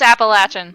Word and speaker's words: Appalachian: Mountains I've been alright yes dream it is pronounced Appalachian in a tiny tiny little license plates with